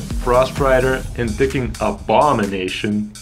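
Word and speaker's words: Abomination: rider and picking up ball mination emphasis on the second syllable are all great picks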